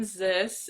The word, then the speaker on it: Zys: I'm Zys. It rhymes with abyss, which goes with my brand, I guess.